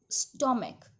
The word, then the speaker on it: stomach: After that, say stomach, stomachs, monarch, monarchs. ठीक है, when the ending ch is pronounced as k, then only s is added to make plural.